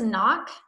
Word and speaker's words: knock: the next one is knock right the missing silent letter K okay we don't hear K and knock but it is there that is how you spell the word knock like your knocking